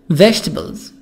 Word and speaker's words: vegetables: Serving vegetables E silent vegetables E silent. خلي بالنا ان الاي هنا بتبقى حرف ساكن لا ينطق، عشان في بعض الطلبة بتنطقها غلط تقول ايه vegetables.